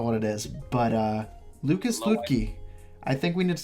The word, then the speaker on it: Luetge: Is it Luetge or Luetge? Luetge. I was wrong the other day.